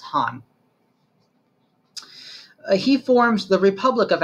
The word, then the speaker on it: Khan: when you see Khan Kha and it's actually pronounced Han he forms the Republic of Afghanistan in 1973